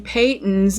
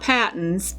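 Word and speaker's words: Patons: stash and this is Peyton's croix socks and the company pronounces its name Peyton's not patents if you go to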